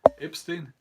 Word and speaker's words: Epstein: Epstein, is that how you pronounce it?